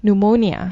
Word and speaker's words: pneumonia: he's hospitalized with uh how do you pronounce this actually pneumonia pneumonia yeah so with a silent pneumonia so he is quite